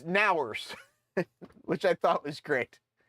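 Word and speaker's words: NOWRS: this was funny too like how would you pronounce this n o w r s it's ners which I thought was great um so yeah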